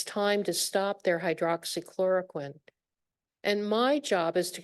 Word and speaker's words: hydroxychloroquine: And I think it's so much fun that everybody knows how to pronounce hydroxychloroquine because of the pandemic. Before then, it was like, the patient would say hydro something.